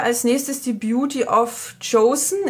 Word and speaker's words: Joseon: So, dann haben wir als nächstes die Beauty of Chosen. Ich bin immer kurz davor zu sagen Beauty of Jason, weil mein Freund meinte, dass das ja bestimmt wie Jason ausgesprochen wird.